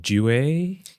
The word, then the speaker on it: Due: With a new restaurant concept coming up in London called, correct me if I'm pronouncing this wrong, Due? Due is correct.